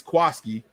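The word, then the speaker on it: Jaquiski: wilson i see okay this is why i say jaquisky because there's no a after the q it's quisky now they're going to tell me it's koski and i've seen this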